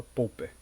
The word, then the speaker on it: Popper: Popper para alguns, né, aí vem a pronúncia do inglês, mas a ideal é lembrar de que vem pop, né, então a gente vai falar Popper, a gente não fala Popper, é Popper.